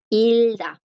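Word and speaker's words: 읽다: Cuando ella está aquí, antes de conjugarla, chicos, cuando está aquí, la G no suena. Ese bachim que está delante de la consonante no suena, ¿verdad? Porque la consonante la bloquea. Por eso aquí el verbo leer es ilda.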